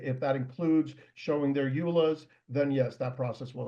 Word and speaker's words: EULA: If that includes showing their EULAs, then yes, that process will include that.